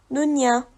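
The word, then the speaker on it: دنيا: à l'heure un arrêt la dernière lettre du mot dunia est Alif et il n'y a rien sur ce Alif donc le mot nunia se lit toujours nunia avec l'arrêt ou sans l'arrêt ça ne change pas nous allons maintenant voir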